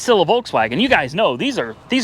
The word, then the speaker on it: Volkswagen: Volkswagen? Isn't it F and then V? Volkswagen. Whatever. It's a Volkswagen Passat, guys. 2015 model, and she's got some extensive hail damage, but it's still a Volkswagen.